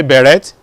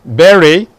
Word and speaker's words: beret: You don't say beret. What do you say? Beret.